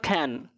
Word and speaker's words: can: উচ্চারণটা হবে খ্যান। খ্যান, ক্যান নয়, খ্যান।